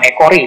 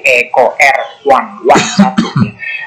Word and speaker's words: EcoRI: Ya, bukan Ecori dibacanya, tapi Eco R1.